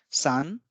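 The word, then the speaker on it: さん: shorter than the lower one three is called Sun and here we have three horizontal lines for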